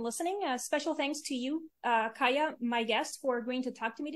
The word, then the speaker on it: Kaja: so it's Kaya. I was pronouncing it Kaja, Kaja.